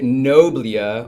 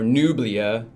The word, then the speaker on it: Noblia: So we will be reviewing the newest character, the Noblia, or Nublia, however you guys want to pronounce it.